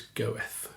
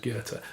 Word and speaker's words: Goethe: I used to think his name was Goethe, Goethe, which is how it's spelt. I think I might have said it once in public and was corrected that it's pronounced Goethe.